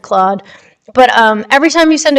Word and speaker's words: Claude: I didn't know every query that you send to AI, like ChatGPT, Cloud, or Claude, however you'd like to pronounce that. I pronounce it Claude.